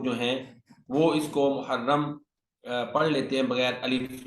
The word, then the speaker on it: محرم: پہلا قمری مہینہ ہے۔ اس کا تلفظ یوں ہے: میم مسموم یعنی میم پر پیش ہے، ہا مفتوح ہا پر زبر ہے، اور را مشدد را پر شد ہے، ساتھ زبر ہے، یعنی محرم۔ بسا اوقات یہ لفظ